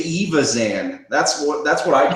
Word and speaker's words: Evazan: Evazan. Evazan? Yeah. I say Evazan. That's what I call him now, because I used to call it Envazan, and I'm like, where's the N? Where's the letter N?